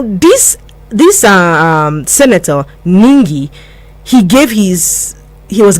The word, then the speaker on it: Ningi: the false allegation by Abdul nji now I don't know if I'm pronouncing that right it's ningi Abdul ningi now adola